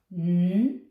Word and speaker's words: night: So, we don't say anything for the gh because they're hiding.